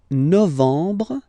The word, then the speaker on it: novembre: Novembre, novembre, novembre.